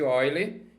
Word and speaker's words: Euler: é chamado número de ó ele se escreve eu ler mas não vai passar vergonha número de Olhe que vale aproximadamente coloquei